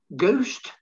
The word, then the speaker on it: ghost: silent and then finally there's the letter h ghost ghost honest honest our our mechanic mechanic rhythm rhythm scheme scheme school school what what when when where where weather weather wire wire white white and why why okay so there's the